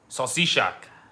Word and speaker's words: salsicha: Salsisha.